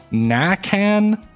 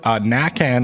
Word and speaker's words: Nakan: pronounce their last name, which they say is Nakan. Even still, I'm somehow feeling like I still mispronounced it. Nakan, I assume, is the correct way.